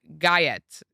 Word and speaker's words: Gyat: I don't even know how to pronounce Gayat. Oh, got.